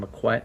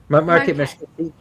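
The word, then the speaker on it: Marquette: were we were in Mcquet and I know I say it wrong all the time isn't Marquet Market thank you market Michigan um we were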